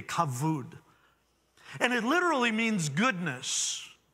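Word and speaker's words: כבוד: word and it's pronounced kavood kavood it's actually spelt with a bee but it's pronounced with a v kavud and it literally means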